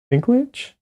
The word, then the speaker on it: Dinklage: Is that's Peter Dinklage? I think. Is that right? Am I pronouncing that correctly?